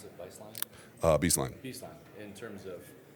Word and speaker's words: Beistline: Can you talk about your hire at Beistline as is that how you pronounce it, Beistline?